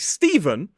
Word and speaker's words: Stephen: So the PH is pronounced as a f sound. So in a word like Stephen, with the PH, it's pronounced as a V, whereas in the word like Sophie, it's pronounced as a f.